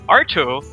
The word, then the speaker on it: Ai2tto: tree here coming up we have arto that's just it yes that is the way we pronounce the name arto versus viviera my name